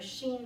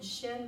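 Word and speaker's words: shin: Sh I am but pronounced more Sheen than Shem that you'll hear both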